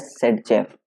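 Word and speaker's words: Zaitsev: rule पढ़ा होगा तो वही हमारा जेट सेब बोलते हैं इसको सेड जब बोलते हैं ठीक है ल्स प्रोनाउंस एज सेड जफ अब देखो सेड जेफ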